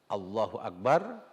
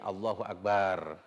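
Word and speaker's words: الله أكبر: betul-betul membacanya dengan benar yaitu Allohuakbar tidak boleh Mbaknya dipanjangkan menjadi Allohuakbar Allohuakbar tidak boleh hamzahnya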